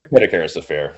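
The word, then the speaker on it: Perdicaris affair: to I'm not pronouncing it right but the Pedicaris affair of 1904. Did I say that right, sir? Pedicaris affair.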